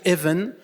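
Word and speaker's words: אבן: En hébreu, juste un petit peu de sémantique, Pierre, ça se dit Even et ça s'écrit quasiment comme Ben, c'est-à-dire les fils.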